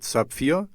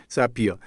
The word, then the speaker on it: Zapier: I have set up later and look into Sapphire. Oh, I don't know how do you say it? Zapier.